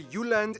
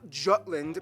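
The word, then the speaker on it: Jylland: denmark is made of the uland not jutland peninsula that connects to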